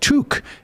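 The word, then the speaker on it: tuque: oh about oh from toke pronounced tuk is what canadians call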